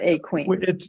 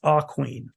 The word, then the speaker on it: Aquene: It's not Aquene. It's actually pronounced Aquene.